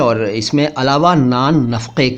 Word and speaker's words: नान नफ़क़ा: नानो नफक ठीक है ध्यान दीजिएगा इन शब्दों पर और सही उच्चारण कीजिएगा नफ का मत बोलिएगा या नफ का मत बोलिएगा ये नफ का है का का का का नफक असल में नफक नानो नफक या नान नफक लेकिन चलता है नफक नान